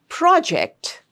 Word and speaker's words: project: So the rule once again, when there are two syllables in a word and that word is used either as a noun or an adjective in your sentence, then please remember to stress on the first syllable.